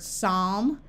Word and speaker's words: psalm: n or PT the p is silent like in the word Psalm pneumatic pterodactyl psyche or